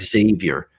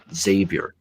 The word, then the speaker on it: Xavier: people call this team xavier i hear people pronouncing it xavier um xavier it's xavier think of it as